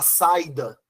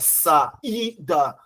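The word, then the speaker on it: saída: Você não fala saida, você fala saida. O i é mais forte que o a que tá antes.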